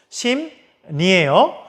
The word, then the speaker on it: 심리: 심리라고 써여져 있습니다. 심리라고 쓰여져 있는데 우리 발음하면 심니잖아요. 그렇죠? 심니예요. 자, 그렇다는 건 요거는 심리에 받침 미음에 리을이 만났더니 그 리을이 니은으로 바뀐 거죠.